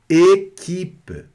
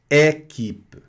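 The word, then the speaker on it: équipe: Equipe, equipe. Observem, não é equipe, é equipe.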